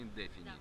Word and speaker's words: Indefini: не сильно вас отвлечем так правильно называется indefini ставим ударение на indefini это как что-то как-то